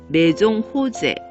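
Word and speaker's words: Maison Rose: 프랑스 발음으로 하면 메종 호제, 이게 더 가깝다고 합니다.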